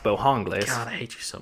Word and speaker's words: Bojangles: I was going to say some people call it Bojangles, but I think it's pronounced Bohangles.